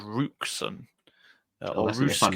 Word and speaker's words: Roosken: No, I think they've signed a Dutch wingback called Rooksen. That's a fun name for us to pronounce. Roosken, I believe, is the pronunciation, but I'll probably be corrected.